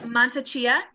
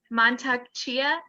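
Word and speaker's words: Mantak Chia: so as you know it's montecia i said it wrong montag chia okay what are some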